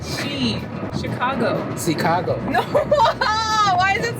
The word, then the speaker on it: Chicago: You have the Korean pronunciation. You say C. You have this C. 시카고. Chicago. 시카고. Not Chicago. Chicago. 시카고? Not shit. Shit. 시카고. No, stop saying she.